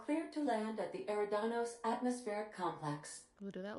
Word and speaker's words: Eridanos: I always call it Euridanos, like with a U. Even though it's obviously spelled with an E, I always call it Euridanos when it's actually pronounced Eridanos.